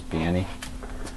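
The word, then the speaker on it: Baní: dominican uh danny b-a-n-i i think the sauce pronounces banny and we're gonna be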